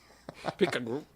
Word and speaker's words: pecan: It's a soft A. Wait, I don't know. You? Where are you getting A soft A, so is it pecan? Pecan. No, soft is not right, though. The A is silent. Pecan.